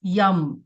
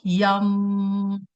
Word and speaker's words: यम: मंत्र इज यम एंड इसको हम प्रोनाउंस कैसे करते हैं? स्लोली रिपीट करके इसकी वाइबेशंस को अपने चेस्ट सेंटर पे फील करके लाइक यम। सो म की साउंड इसमें थोड़ी सी ज्यादा होती है।